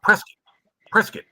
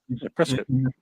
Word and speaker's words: Prescott: Well, it's pronounced Prescott. That's how you say it. Prescott.